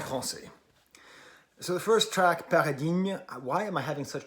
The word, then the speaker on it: Paradigmes: so the first track paradigm why am i having such trouble pronouncing this word okay because gn makes a niu sound but gm makes no difference sound so like i'm saying